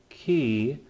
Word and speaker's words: chi: We have he, which makes the CH sound, ki, kind of like in the composer Johann Sebastian Bach at the end of his name.